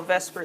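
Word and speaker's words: VSEPR: v s PR um you can't really pronounce that very well so we kind of switch the S and the E we call Vesper Theory vspr veence shell electron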